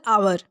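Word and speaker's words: hour: का चुनाव करना चाहिए फॉर एग्जांपल आवर यह वर्ड भले ही एच से स्टार्ट हो रहा है बट इसका हिंदी प्रोनंसिएशन आवर कुछ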